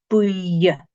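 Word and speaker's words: buidhe: Buya is yellow, and remember the DH is like a Y sound, so this one is Buya.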